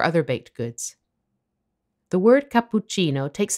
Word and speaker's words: cappuccino: pp and the cc when you see a double consonant the key is to pause for a split second while holding the consonant for a bit longer than usual have a listen to